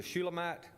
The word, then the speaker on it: Shulamite: I believe the proper way to say she's a Shulamite is the proper way, but she already has somebody.